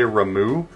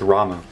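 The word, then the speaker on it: Ramuh: got rama okay a lot of people say ramu uh that you do not pronounce this guy ramu okay i'm just saying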